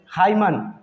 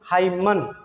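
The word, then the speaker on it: hymn: हाइमन, ठीक है, इसको हाइमन, हाइमन पढ़ते हैं लोग जो कि गलत साउंड है, इसका सही साउंड होगा हाइम।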